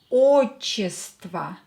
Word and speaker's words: отчество: O, not stressed, pronounce it as a. Ваша фамилия. Имя. Отчество.